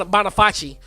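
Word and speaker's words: Boniface: might be something like Bon Bonaface. It might be it might be Bonaface, but it's like, but I'm going say Bony Face.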